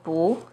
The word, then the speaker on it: 不: When 不 is followed by a non-fourth tone, which are the first, second, and third tones, it's pronounced as the fourth tone, as in 不知道, 不行, 不好. When 一 is used as